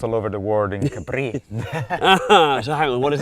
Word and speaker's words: Capri: The island that is mispronounced all over the world in Capri.